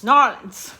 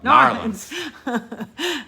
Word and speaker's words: New Orleans: Yeah, But So you have to say it in one syllable. New Orleans. Narlands. Yeah, there you go. Narlands.